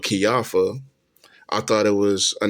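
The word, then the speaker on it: Kijafa: His wife Kiafa, I was pronouncing it wrong for years. I thought it was Kajafa, but Kiafa.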